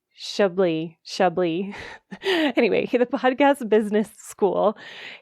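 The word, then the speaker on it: Schaeuble: Another one is a fellow podcast coach, extraordinaire, Adam Shalbley. Excuse me. I always say his name wrong. Shably.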